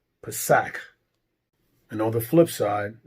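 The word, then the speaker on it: פסח: And in the lexicon, the Strong's pronunciation is Pesach. Pesach.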